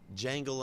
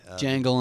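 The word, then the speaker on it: Djangle: is Jangle Unchained. Jangle Unchained. The D is silent.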